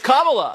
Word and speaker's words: Kamala: Is it Kamala? It's Kamala. That is correct.